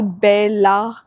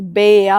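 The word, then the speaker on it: bella: मैं बता देती हूं एल जो होता है स्पैनिश में वह साइलेंट होता है। तो अगर डबल एल लिखा हुआ है तो मतलब वो या साउंड करेगा तो फाया नॉट फाट जैसे कि बेला नहीं होता है। इट्स बेया होता है।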